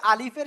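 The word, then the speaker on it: ألف: তো মূলত এই আলিফের শেষে এসে আপনার কি হবে, ফর মতো একটু উচ্চারিত হবে। কিসের মতো? আলিফ। এই যে ফ, ক্লিয়ার?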